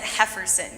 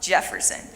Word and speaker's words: Jefferson: Another little boy was named Ken, but you don't pronounce it Hefferson. You pronounce it Jefferson.